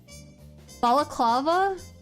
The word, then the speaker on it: balaclava: The reason I said the way I did before is because someone said to stress the third syllable. So I stressed the third syllable and it's still wrong.